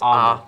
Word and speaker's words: Ahmed: Ahmed. It's It's Ahmed. Ahmed. I'm gonna look it up. Ahmed. Ahmed. Ahmed. I don't know how you want to say it. It's not a K. It's Ahmed.